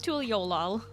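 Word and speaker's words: Tuliyollal: How are you, Tul? I I know it's Tuliol.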